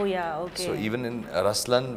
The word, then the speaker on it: Ruslaan: So even in Ruslan, when you say Ruslan also means the lion, it's the attitude of a lion, but the right pronunciation is Ruslaan.